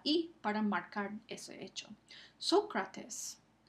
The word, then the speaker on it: Sócrates: Sócrates. El acento ortográfico marca dónde está el acento prosódico en la primera sílaba. Sócrates.